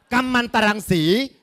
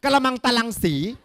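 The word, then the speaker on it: กัมมันตรังสี: ของ สาร สาร หนึ อ่าน ว่า สาร กัมัน ตะรัง สี บาง คน อ่าน กะละมัง ตะลัง สี อัน นั้น แช่ ถุง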